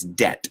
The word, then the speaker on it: debt: Cuidado, la B in la palabra deuda, debt, you don't pronounce that B, okay? So it's debt.